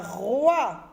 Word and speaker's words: roi: On a roi. Avec oua, roi. Avec oua, roi. OI nous donne le son wa, roi.